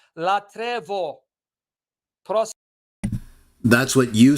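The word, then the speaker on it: λατρεύω: Me, Orthodox Christos, that latreo, it's not latreo, it's latrevo.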